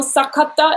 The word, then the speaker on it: Sakata: not but you know sakata is my last name and in english you say cita and and it's just yeah the syllables and the vowels are different i knew i was